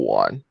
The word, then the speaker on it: Wan: The real Huang. The real Wong. The real Wong. The real Wong. Hell yeah. The real Wan. It's spelled James Wan.